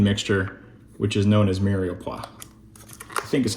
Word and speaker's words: mirepoix: carrot, and onion mixture, which is known as mirepoix.